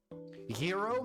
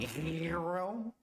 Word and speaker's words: gyro: Hero, my favorite.